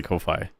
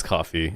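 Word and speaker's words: Ko-fi: But I, you know, in my head I just say Kofi. Mhm. And that's like he says cuz it just rhymes with loi. Um Yeah. Yeah. The dash really makes it like people want to say loi. You know what I mean? But it's coffee.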